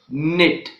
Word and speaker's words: knit: So these are the words in which the letter K is silent.